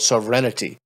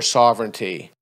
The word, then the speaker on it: sovereignty: things everyone's talking about sovereignity I'm like what the is I never even heard the word sovereignity but evidently that's but you didn't yeah you didn't pronounce it like that so so you want